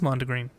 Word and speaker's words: Mondegreen: Oh, it is Mondegreen.